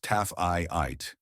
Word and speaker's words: Taaffeite: The stone was Taaffeite, pronounced Taaffeite, and to this day, fewer than 50 gem-quality specimens are known to exist.